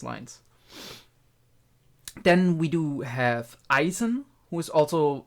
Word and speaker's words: Eisen: something along those lines then we do have Eisen who is also pronounced uh correctly in most of the cases because it's a pretty easy name um Isen means iron again Eisen then we have the master of or the